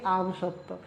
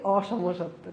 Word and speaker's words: অসমসত্ব: ভাইয়া যখন ছোটবেলায় পড়তাম অসমসত্ব উচ্চারণ করতে যেয়ে বলতাম কি আমসত্ব, বলে আমসত্ব দিয়ে দিও না কি অসমসত্ব।